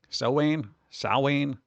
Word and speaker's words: Samhain: Samhain is how it's been told. It's properly pronounced.